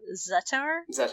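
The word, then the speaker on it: Zettar: kind of going against zatar zetter or zatar i think the the way they pronounce it is uh zattar okay but he's he's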